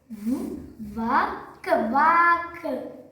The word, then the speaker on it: walk: L ఉంది కదా అని L పలకకూడదు. ఓకేనా? ఇవి వచ్చినప్పుడు ఈ L అనేది సైలెంట్ అవుతుంది.